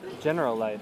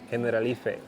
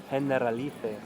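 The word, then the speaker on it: Generalife: can you tell us the name of it General life that's how it's spelled no it's we're in Spain so it's pronounced hen alif hen alif you can also get great views of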